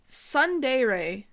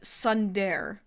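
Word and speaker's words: tsundere: Sundere is how you say that word. Sundere. I said Sundare.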